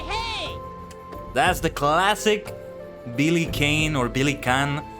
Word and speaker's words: Kane: That's the classic Billy Kane or Billy Khan. It's written like that. K A N E but apparently supposed to be pronounced Khan.